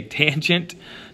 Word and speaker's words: tangent: Don't say sin though. Don't say cos and don't say tan. Please say tangent, cosine, and sine. That is the way to properly pronounce these.